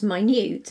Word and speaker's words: minute: also be aware of words that are spelled the same but are pronounced differently like minute meaning 60 seconds and my new it's meaning tiny or as in I've got